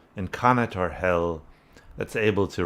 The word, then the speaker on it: Connacht: I wanted to get the pronunciation right when I did the song, and according to my sources, it's pronounced Connacht, not Connacht.